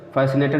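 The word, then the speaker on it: fascinated: फैसिनेटेड में भी देखिए सी से पहले यस आया है तो सी साइलेंट रहेगा, सीन।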